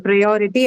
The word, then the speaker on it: priority: So the O syllable, the second one is the one that is marked. That is the penultimate syllable for ITY.